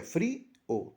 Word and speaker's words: frío: En el caso de frío, la palabra frío y es una vocal débil, pero al estar acentuada se convierte en fuerte y se separa. Al contarla sería free o tendría dos sílabas.